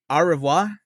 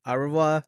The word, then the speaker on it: Au revoir: They're it's called Au revoir, like the French saying like Au revoir. Spell it out.